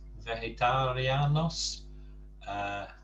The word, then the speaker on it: vegetariano: So note we've got the soft G in vegetariano and the hard G in vegano. That, of course, is because the G sound varies depending which letter it's followed by. If it's followed by an E or an I, E, it's a soft G, a H sound. If it's followed by an A, it's a hard G.